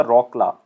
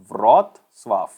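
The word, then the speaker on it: Wrocław: तो इसको ऐसे नहीं बोला जाता रॉकला, ऐसे नहीं बोला जाता, इसको बोला जाता है व्रोत्स्लाव, व्रोत्स्लाव। तो ये आप याद रखोगे, इसकी प्रोनाउंसिएशन ऐसे है।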